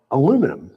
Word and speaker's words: aluminum: For example, Americans say aluminum for the metal, right? Whereas in the UK, it's aluminum. Aluminium. Yeah. It's just hard to say it back to back. Yeah. I know. Aluminum and aluminium.